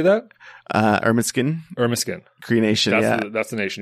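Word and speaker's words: Ermineskin: Irminskin Cree Nation.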